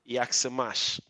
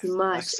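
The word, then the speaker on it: Jak se máš: Yaksamash. Yaks. Yaksamash. Yes, Yaksimash.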